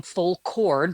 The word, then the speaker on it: Full Chord: And the band name Full Chord, like a full cord of firewood, not a chord like on an I instrument.